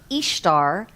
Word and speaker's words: Ishtar: The Assyrians and Babylonians called her Ishtar, pronounced just as the word Easter.